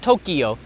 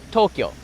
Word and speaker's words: Tokyo: Two syllables. Tokyo, not Tokyo. Tokyo.